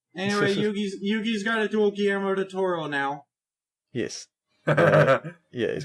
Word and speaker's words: Guillermo: Anyway, Yugi's got to duel Guillermo del Toro now. Yes. He's got to duel Gurimo, who is, and he's going to play the poor man's shadow game.